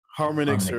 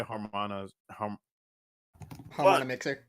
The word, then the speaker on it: Harmonixer: Fucking Harmonixer. Harmonixer, Harmonix. whatever his name is. Because no, some people say Harmona Mixer. yeah, no, the correct pronunciation.